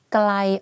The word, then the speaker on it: ไกล: For example, the word ไกล or ใกล้ the pronunciation is the same, but the intonation are different.